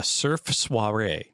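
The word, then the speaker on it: Cerf Sire: was given the name, uh, which is incredibly mispronounced intentionally. That's an interesting name. Uh, Surf Suare, C E RF, SI R E.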